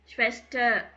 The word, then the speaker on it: Schwester: Doctor, father, உவர், ஸ்வெஸ்டர், computer அப்படின்னு சொல்லும்போது ஆரோட சவுண்ட் வராது.